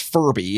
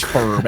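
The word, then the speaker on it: F.U.R.B.: f-u-r-b by Frankie and that's not pronounced Furby it's pronounced Ferb and it stands for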